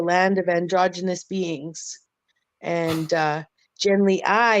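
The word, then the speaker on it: Genly Ai: about a guy named Genly I who goes to far, far, far away, travels many light years to get to a land of androgynous beings. And Genly I, it's spelled AI actually.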